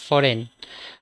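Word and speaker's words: foreign: প্রথম শব্দটা আছে দেখো এফও আরই আই জি এন সেটাকে আমরা উচ্চারণ যখন করব বা উচ্চারণ যখন করম ফরেন ঠিক আছে ফরেন মানে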